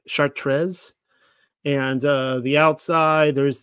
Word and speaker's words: Chartres: sorry here's the actual Cathedral here uh it's pronounced chartres and uh the outside there's the Labyrinth inside